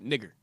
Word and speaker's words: Niger: Yes, that's how you pronounce it, Niger.